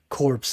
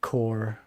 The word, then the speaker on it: corps: on Comics gate Commandos I said corpse instead of core yeah I should know better because you know even in French it's the same but uh speaking of